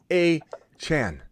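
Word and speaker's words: Achane: go by that at all he goes by a Chan and he he released a press release saying you're pronouncing my name wrong and you have been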